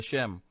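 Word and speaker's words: שם: No, es que Shem es la pronunciación hebreica.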